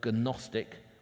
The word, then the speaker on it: gnostic: called knowledge or gnostic the word gnostic with a silent g gnostic just comes from